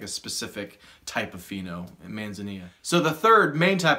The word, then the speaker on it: manzanilla: The second type is manzanilla, or manzanilla. I think it's manzanilla is like the correct way in Spanish to pronounce it.